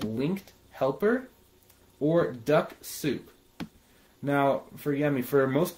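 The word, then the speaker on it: Dux-Soup: Yummy for most beginners Duck Soup is generally a really easy way to do it spell d u x o u s o u p one sec yeah it's spelled d-u-x-s-o-u-p is what I would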